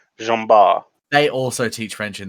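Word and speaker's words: Jean Bart: son is also called gene bort let me let me make sure that it should be uh properly and it's pronounced jumbar they also teach french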